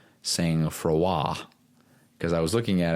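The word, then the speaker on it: sang-froid: Freud but it's pronounced saying fua fua and it me means to be calm Under Pressure it's a French word and knowing that it's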